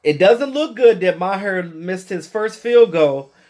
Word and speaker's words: Maher: last thing Brett Maher cuz again he's Canadian so they pronounce it Maher shout out to all